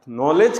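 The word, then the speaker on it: knowledge: कम लोग जानते हैं नॉलेज के अंदर दो नॉलेज है एक न य याद रखना कि के एन आया है तो के साइलेंट रहेगा दूसरा डीजी एक साथ जब भी देखते हैं ना डी जी तो डी को खामोश रखा जाता है डी को पढ़ा साउंड नहीं दिया था पढ़ा तो जाता साउंड उसको नहीं मिलता डी साइलेंट होता है तो के एन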